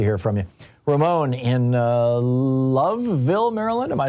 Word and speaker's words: Loveville: Ramon in Loveville, Maryland. Am I saying that right, Ramon? Yeah, you're saying it right. What's up? Like the Love Boat.